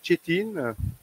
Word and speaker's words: Çetin: Et donc rapidos, Chetin, ça se prononce pas comme ça s'écrit.